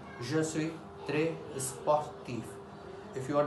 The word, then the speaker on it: sportif: Now say sportif. I am pronouncing this F.